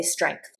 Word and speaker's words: strength: I always say strength with a G that almost sounds like a C at the back of my throat.